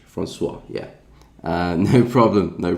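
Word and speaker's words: François: indices as well oh pronounce Francois okay yeah the French to the O and the I yeah that kind of threw me off uh but I guess that's French Francois yeah uh no problem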